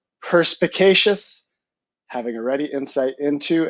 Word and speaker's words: perspicacious: So again, the word is pronounced perspicacious, having a ready insight into and understanding of things.